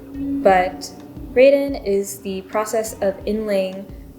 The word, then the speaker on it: Raden: out by talking about the Raiden technique on these pens or raden how you would pronounce it in Japanese but Raiden is the process of